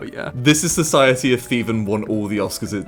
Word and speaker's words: Theevan: So I put it through Google Translate and it says it's Hindi, pronounced Theevan. I thought it was just like pronounced like how you'd say Steven if you had a lisp.